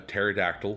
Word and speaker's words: pterodactyl: can't you hear a pterodactyl go to the bathroom why because the P is silent seeing your dad being